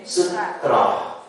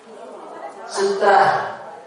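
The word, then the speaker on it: سترة: Sutra itu Indonesia ya kan kita penyebutannya ini istilahnya istilah Arab. Emang Ibu kalau ada tulisan one dibacanya one ya enggak uang. Iya, memang tulisannya sutra. Ini kanan Arab, maka pembacaannya adalah ro ro sutra. Kalau sutra itu artinya pakaian yang halus dipakai itu sutra ya. Sutrah.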